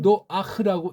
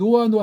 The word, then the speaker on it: 노아: 대명사로 쓴다고 할 때 이런 표기라면 옛날에 이걸 노아흐라고 읽었다고요. 옛날 영어 그 킹 제임스 또는 그 전에 있는 성경들 판에 있었을 때는. 근데 지금은 그런 음역의 표시가 없어서 딱 하다 보니까 이 아가 묵음이 돼버려서 노아 해버리고 한국엔 또 쪽발이 통해서 들어오다 보니까 노아 해버린 거예요. 노아가 뭡니까? 노아가 이 헤이트라고 하는 자음이 이게 뜻이 있는 건데, 예? 이게 어근이 누아흐예요.